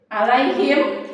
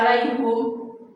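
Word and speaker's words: عليهم: Ya, alaihima, alaihim, sering dengan kata alaihim. Kenapa kok nggak alaihum? Kenapa alaihim? Karena sebelumnya ya sukun, gitu ya.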